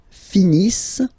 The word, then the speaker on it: finissent: Ils finissent. So remember, as usual, when we've got the verbs E-N-T not pronounced.